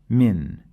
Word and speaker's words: من: This noon, it's not pronounced like I pronounce now when we are reading Quran. Check with Sheikh Ibrahim. هل ترى من فطور. We hide the noon into the fa and we add the ghunna and say من فطور.